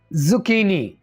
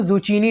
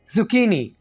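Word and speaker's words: zucchini: जुकीनी, कैसे बोलना है इस वर्ड को, फिर से सुन लीजिए, जुकीनी। इसको जुचीनी नहीं बोलना, जुकीनी।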